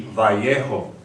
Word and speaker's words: Vallejo: Although here in New Mexico they wouldn't know where that is because it's not pronounced correctly. It should be Vallejo, named after Generalissimo Mariano Guadalupe Vallejo, who was the last Governor General of Alta California.